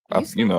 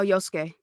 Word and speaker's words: Yosuke: Yusuke? I'm terrible at names. Yasuke? Is it? I Can don't you think. No, spell it's it? not. Yosuke. Oh, Yosuke.